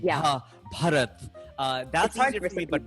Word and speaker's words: Bharat: I can say like the erna and stuff like that, but ba is very hard because Hindi is aspirated, and so like saying ba, bharat, that's easier for me.